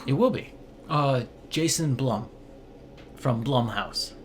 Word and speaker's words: Blum: Uh Jason Blum from Blum House. Is it Blum or Bloom? It's Blum. Every single time I hear everyone pronounces it differently. It's Bloom. Okay, trust me. Sure. I checked twice.